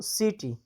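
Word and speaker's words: city: او سیټي، ولې سیټي تلفظ کېږي؟ سین تلفظ کېږي. سیټي څه ته وایي؟ ښار ته وایي. سیټي ولې تلفظ کېږي؟ ځکه وروسته ترې آی راغلی دی.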